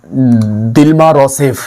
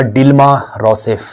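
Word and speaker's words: Dilma Rousseff: इसके बाद एक नाम लिखिएगा महत्वपूर्ण, दिल्मा रोसेफ या डिल्मा रोसेफ। तो उच्चारण थोड़ा अलग हो सकता है, डिल्मा रोसेफ।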